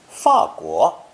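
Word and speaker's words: 法国: Some people, myself included, prefer fourth tone, 法国, to make a distinction. That's the pronunciation I've heard most.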